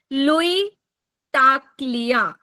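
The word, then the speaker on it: Louie Tacklie: जीवन में प्रोस्पेरिटी आना चाहिए तो वर्ड है लुई टा क्लिया लुई टा क्लिया मैं स्पेलिंग बोल रही हूं एल ओ यू एल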